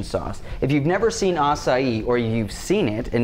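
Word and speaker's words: açaí: and soy reduction sauce if you've never seen assai or you've seen it and never known how to pronounce it that a AI that's pronounced assai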